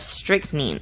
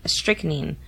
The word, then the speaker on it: strychnine: In 1899, she killed her foster sister Elizabeth with a dose of strychnine. Strychnine. No, it's strychnine.